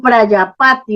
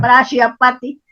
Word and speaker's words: Prajapati: Por eso hacían eso, así, Prayapati con J, Prayapati, quiere decir padre de la humanidad con en J. la India. Vale. Sí, Prajapati se escribe, Prajapati.